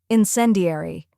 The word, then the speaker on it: incendiary: in C now let's put it all together incendiary try repeating after me incendiary now a little